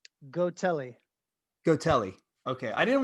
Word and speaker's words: Gotelli: now how do you say your last name go telly go telly okay i didn't want to pronounce it wrong yeah no worries yeah gino